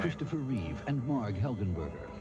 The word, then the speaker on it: Reeve: Christopher Reeve and Marg Helgenberger. But I said it wrong. Though. It's Reeve, not Reeves.